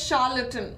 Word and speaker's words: charlatan: what is the meaning of charlatan it is pronounced as charlatan okay charlatan and the meaning is a person